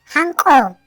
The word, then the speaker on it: hanku: Se escribe hanku, se pronuncia hanko.